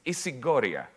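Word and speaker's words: ἰσηγορία: significant I'll spell it I'll pronounce it in Greek it's isigoria the concept of isigory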